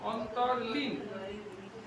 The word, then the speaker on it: অন্তরলীন: উতলা হবে না একদম অন্তরলীন অন্তরলীন উচ্চারণ করা যাচ্ছে অন্তরলীন হ্যাঁ র পর্যন্ত একটা লীন আলাদা অন্তরলীন নিবির ধ্যানের গভীরে